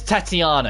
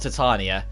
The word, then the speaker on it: Tatiana: It's Tatiana, it's not Titania.